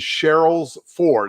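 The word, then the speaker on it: Sherrills Ford: ranch homes neighborhood and the address is cheryl's four and cheryl's is spelled s s-h-e-r-r-i-l-l-s ford north carolina and what it is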